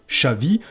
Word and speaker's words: Xavi: En basque ou en catalan, par exemple, le X se prononce ch. Pour les amateurs de football, vous connaissez certainement le barcelonais Xavi ou l'ancienne gloire des Bleus 98, Vicente Lizarazu.